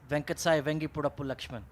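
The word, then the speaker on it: Venkata Sai Vangipurapu Laxman: battle used to do that really well is venkatesai vengi purapu lakshman you know that guy yes that's right very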